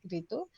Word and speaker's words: Wreetu: And it's also a common name of girl's name in Bangladesh, like Ritu.